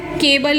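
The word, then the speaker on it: cabal: तो आपने दोनों तरीके से इसको समझना है, और कीवर्ड इसका क्या है, केबल ही है, केबल, ठीक है, कीवर्ड केबल है लेकिन प्रोनाउंसिएशन इसका कबाल है।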